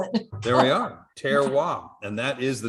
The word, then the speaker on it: terroir: one term so he didn't know how to spell it there we are tear WAP and that is the name of the game